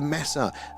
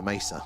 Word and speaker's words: mesa: Lots of lots of visual ones and uh the messa. Yes. Am I saying it right? Yeah. The mess the mesa. Sorry. Mesa. Um yeah, that's very very interesting.